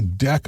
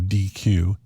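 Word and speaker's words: deque: and the default type of Q uses a deck object and you notice I pronounced that deck instead of DQ because DQ might seem like a verb means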